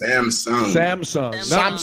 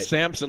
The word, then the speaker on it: Samsung: Samsung. Not like Samson, like George Samson.